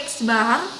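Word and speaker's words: x̄: Simbol rata-rata ini dibacanya X bar.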